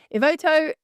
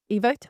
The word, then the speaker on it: Evoto: Now, Ivoto Evoto is how you say didn't enter the this industry as a neutral tech company.